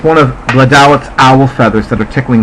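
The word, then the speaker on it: Blodeuwedd: Now, according to Mythbusters, which was a completely underrated and underappreciated television series on PBS, the pronunciation of this goddess's name is Bladawith. Well, she's a very difficult language to speak, so I was thrilled that they gave me a pronunciation.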